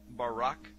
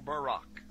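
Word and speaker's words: ברק: a flash of light in Hebrew is pronounced Barak or Barack now consider this amazing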